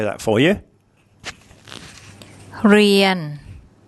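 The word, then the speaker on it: เรียน: เ ร ี ย น เ ร ี ย น เ ร ี ย น And that's the Thai word to learn or to study.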